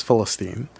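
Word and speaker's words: فلسطين: rights organization and the the Arabic pronunciation for Palestine is Philistine and I was like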